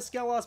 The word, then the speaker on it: Skelos: need to resi that skeleton that's how you pronounce it we're going to scale us Badlands if we're gonna do all the bad